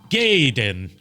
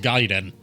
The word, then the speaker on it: Gaiden: counter called it Ninja gaen because he didn't know how it was pronounced but you know it's giden because one it's Japanese and two uh they